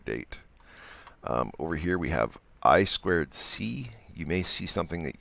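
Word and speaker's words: I²C: at a later date over here we have I squared C you may see something that you might come across something it says I to see the correct pronunciation is I squared C it's a another protocol for communicating with other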